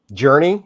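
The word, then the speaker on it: Jurnee: you Dennis it's Journey journey is that what you said It felt different but it's pronounced Journey pretty much like the band Journey Journey smulee and I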